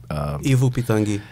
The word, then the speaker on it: Ivo Pitanguy: Ivo Pitangi.